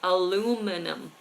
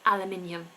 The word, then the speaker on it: aluminium: is a good one in America they say aluminum aluminum I have an aluminum can but in the UK we say aluminium aluminium okay what do